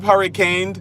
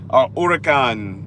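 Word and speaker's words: Huracán: do it what's up hurricane i i got hurricane that's actually a cool name i like that urikan uh if you say it right um because that's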